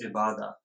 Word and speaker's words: Ibadah: It's pronounced as Ibadah, so it's an Arabic word.